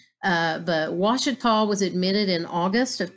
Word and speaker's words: Ouachita: Arkansas and I had to look up the pronunciation of this name how to say this it's actually Washita from what I could find and so I